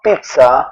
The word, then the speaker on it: pizza: Hindi po ah sinasabing pizza or tiza or pizza piz sa so ts parang ganun po yung pizza. Ah operado kasi ako kaya hindi ako makapagsya pero pizza.